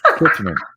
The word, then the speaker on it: Kilchoman: But oh yeah, Kilchoman, right? Kilchoman, is that how you say it? Kilchoman.